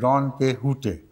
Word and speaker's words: Don Quixote: And in Spanish, it is pronounced Don Quixote. There they do not pronounce the letter 'x' in Spanish.